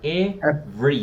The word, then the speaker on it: every: Cuando veas every o palabras que tienen dos E por lo general, en este caso la segunda no suena, ¿listo? Entonces se pronuncia every.